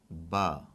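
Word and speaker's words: باء: The next one is Ba. That's the symbol, that's the way it's written. And let's put it in English as B-double-A.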